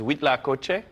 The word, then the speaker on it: huitlacoche: That means eight in French, but nothing to do with Spanish, with Mexican Spanish, but wheat la coche. So it's really Huitlacoche.